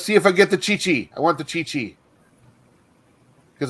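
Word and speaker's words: Qiqi: as half mexican i'm a big fan of chi chi's um yeah but it's spelled kiki but they pronounce it chichi junk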